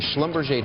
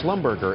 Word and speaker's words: Schlumberger: the wedding of a schlumberg daughter I didn't realize that was how you pronounced it I thought it was Schlumberger and when I showed